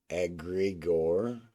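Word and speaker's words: egregore: what is that word it's theosophical word and it's pronounced aggor it's a thoughtful is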